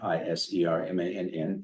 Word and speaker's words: Isermann: Jim Iserman, and that's how you pronounce it, Isermann, Iserman, is the artist.